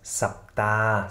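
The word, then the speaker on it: สัปดาห์: Und zu guter Letzt, Sapta, Sapta, Sapta, die Woche, also das Ha-He zum Schluss wird nicht ausgesprochen, weil es stumm geschaltet ist.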